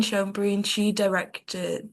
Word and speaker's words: Schoenbrun: And then the last quote is by, I have no idea how to pronounce the last name. Joan Jane, Brune. yeah, Jane Schoenbrun.